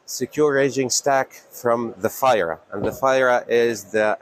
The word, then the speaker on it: FiRa: Oh, I thought it was pronounced FIRA, F-I-R-A. F-I-R-A, exactly. So. But it's FIRA, so I stand corrected. It depends on, let's say I am based in France, so maybe the I is pronounced as an E, but still it is